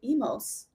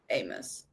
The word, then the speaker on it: Amos: Amos! I was reading it as Emos. So I had my lines memorized on set, and I was like, Emos. No. Amos.